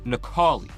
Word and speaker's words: Necalli: Because someone told me in the comments that it's pronounced Necalli.